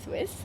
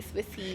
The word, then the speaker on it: Swisse: i SS e Swiss it's not the country Swiss okay and uh a lot of people actually get confused they call it Swiss a swissy yeah exactly so okay please pronounce the brand